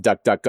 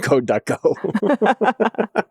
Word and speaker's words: DuckDuckGo: I might duckduckgo. It's duckduckgo, by the way, not god duck go.